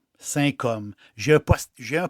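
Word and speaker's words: Saint-Cosme: o s m e si ça se prononce comme sain hom j'ai un po j'ai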